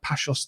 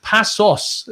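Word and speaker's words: Paços: We are going to be doing a tactical breakdown on Matroy Jallo, the Pachos de Freya. Tell me, Pablo, that was probably a horrific pronunciation, but it's Passos.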